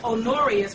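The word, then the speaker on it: Honorius: Now, Pope Aarius II or Pope Onorius, which is spelled H O N O R I U S, and I'm spelling it out because it doesn't really sound like it's spelled, ordained the Templars as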